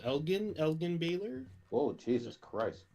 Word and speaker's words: Elgin: okay and then next up we have uh elf i believe this is pronounced elgin elgin baylor oh jesus christ elgin elgin sure